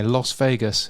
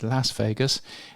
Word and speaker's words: Las Vegas: Firstly, in Las Vegas, um I've just pronounced it the Australian way, Las Vegas. It's not, of course, it's Las Vegas.